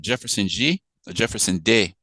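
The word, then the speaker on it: Jefferson De: So this was a really chilling movie by Jefferson Day is how you pronounce it.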